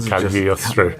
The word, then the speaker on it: Cagliostro: Cagliostro. I don't think you pronounce the G. I don't think you're meant to, because I'm assuming it's Italian, so it'd be Cagliostro.